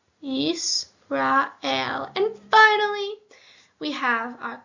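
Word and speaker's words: ישראל: So we have Yisrael, which says Yisrael.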